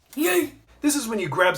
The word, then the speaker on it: yeet: It's not yeet, it's yeet.